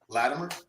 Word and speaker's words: Latimer: Latimer, which is what you say. Latimer. I say it with a it almost sound like a D.